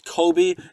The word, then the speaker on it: Kobe: His name's Kobe, and I was saying it wrong the entire last episode.